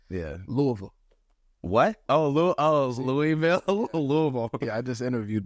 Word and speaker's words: Louisville: Louisa I was like it's not Louisville louisv louva it's like like bottomore Baltimore Baltimore it's like it's stuff like